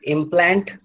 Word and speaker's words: implant: syllable is stressed, and when it is a noun, then the first syllable is stressed. So in implant, you have two syllables, and the second syllable plant is stressed.